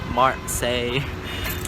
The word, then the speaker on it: Marseille: Yes, the correct pronunciation is /maʁsɛj/ (Marseille).